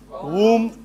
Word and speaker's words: womb: In all these, B is silent. So it is thumb, num, womb, and comb. Comb.